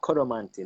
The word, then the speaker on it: Koromanti: It's pronounced as Koromanti now, but it's Koromanti language, and it's a spiritual possession language.